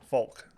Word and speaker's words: Faulk: Faulk. Folk.